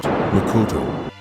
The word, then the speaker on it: makoto: Pronounced, Makoto.